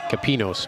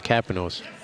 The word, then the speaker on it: Capanos: For absolutely no reason, I wanted his last name to be pronounced Capinos, but it's Capanos, and I asked to be sure.